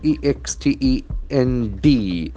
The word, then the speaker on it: extend: Act extended, E-X-T-E-N-D. Extend can act as a verb here. Extend. Extend. Here the accent falls on the second syllable.